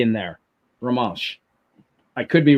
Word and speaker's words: Romansh: Try pronouncing that, Tony. Romanish. I think C in there. Romansh.